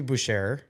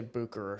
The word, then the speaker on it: Bucherer: do you pronounce this I think it should be Boucher apparently it's Booker yep I've heard some pretty high up watch people say Bucher so that's what I'm gonna go with but I don't I